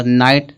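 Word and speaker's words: knight: अब यहाँ पे कनाइट इसको नहीं पढ़ेंगे। क्यों कनाइट नहीं पढ़ेंगे?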